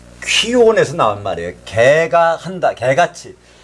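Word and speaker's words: κύων: 퀴온 정확히 말하면 이 키읔 발음이 없어요. 그 헬라어나 라틴은 그 쌍기역입니다. 그러니까 퀴온이래요.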